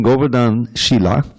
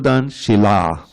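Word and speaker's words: Govardhan Shila: worshiping Goan Sheila actually we have to make sure we pronounce this right there's no diacritics in this book so doesn't help you wor Goan Shila the word Sheila means Behavior the word Shila means Rock soila bathing bathing thri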